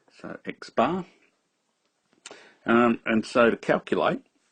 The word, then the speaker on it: x-bar: a sample mean not the population mean so x-bar is how it's pronounced or said so x-bar and and so to calculate x-bar as we